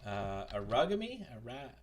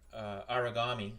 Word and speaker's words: Aragami: Aragami.